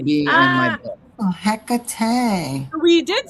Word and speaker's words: Hecate: Oh, Hecate.